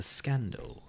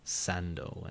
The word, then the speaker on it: scando: o and u theol Latin C would have continued to have its classical pronunciation just as in English before those vowels like a K in the poem this would have applied to scando and crucially to scotus itself or scotus what Andrew is being mocked for is pronouncing C in a soft fashion in all environments including these and so saying Sando and saus including these and so